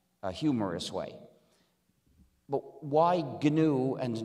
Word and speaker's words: GNU: name of our system please pronounce it with a hard g pronounce it gnu if you call it the new operating system you will